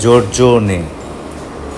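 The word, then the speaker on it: Giorgione: একই কারণে নামটা জর্জোনে, জোভান্নি, বেল্লিনি। সি এর উচ্চারণ কিছুটা বাকি আছে।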